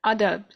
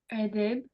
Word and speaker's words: Adab: Adab. Adab. How do we pronounce that best? Adab.